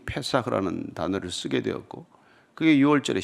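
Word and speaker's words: פסח: 6월절은 히브리어로 페사흐라고 말합니다. 넘어가다, 통과하다라는 뜻이에요. 그걸 아람어로 발음하면은 파스하가 됩니다.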